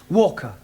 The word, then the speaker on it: Walker: Walker. What? W is pronounced W. Your employer's name is Walker.